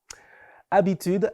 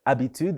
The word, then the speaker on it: habitude: du jour on découvrait habitude un mot féminin donc il commence avec un h muet au début passons tout de suite